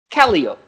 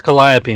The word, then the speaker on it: Calliope: they happened to have a shirt that's printed calio with the proper pronunciation under the word no it's calliope and it says if you're not local you don't know how to say the word so welcome to brad